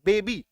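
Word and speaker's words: baby: लिए बिल्कुल आसन होगा जब ए दो सिलेबस वाले शब्द के अंत में होता है तो आम तोर पर इसका साउंड आई होता है ठीक है सबसे पहले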